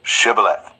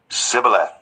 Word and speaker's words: Shibboleth: They said, "All right, say Shibboleth." If he said, "Sibboleth." Because he could not pronounce the word correctly, they seized him and killed him at the fords of the Jordan.